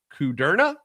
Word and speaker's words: Kudrna: And I don't want to screw up his last name, but Kerna is I believe how he pronounces it. Ben Kerna.